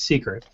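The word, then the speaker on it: Cicret: c i c-i-c-r-e-t okay so it almost looks like it says cricket but it's secret um what they're doing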